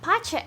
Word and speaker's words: pace: the sounds correctly so i thought that the word looked like the word pace well pacha actually means peace like peace and if